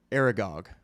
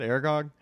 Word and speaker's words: Aragog: Aragog.